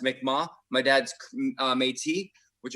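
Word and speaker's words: Mi'kmaq: so my mom is mick mac which um is pronounced actually pronounced mikma my dad's uh metis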